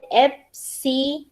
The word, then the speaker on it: EBCDIC: We call it EBCDIC. इसका pronunciation ऐसे रहता है, EB is EB, C is used as it is, FC, then DIC.